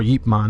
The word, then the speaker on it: Ip Man: If it's any of the Ip Man movies, it'd be Ip Man 1 or Yip Man, I think is how you pronounce it correctly.